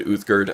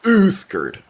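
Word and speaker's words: Uthgerd: seconds ago and then when i said uthgard i kind of burped at the same time and it came out as uthgurt which i think is how i'm going to say her name from now on that pronunciation kind of fits her personality a little better uh hello you are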